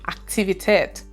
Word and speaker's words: Aktivität: The next word is activity, and it is pronounced in German Aktivität.